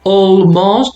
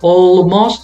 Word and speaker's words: almost: Okay, with this, when you have one L, remember the L is silent. We do not pronounce the L. So, for example, we do not say almost. No, it's not almost. It's almost. Almost.